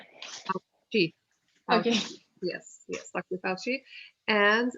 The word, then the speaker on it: Fauci: So the C is going to be pronounced like a CH. Fauci. Fauci.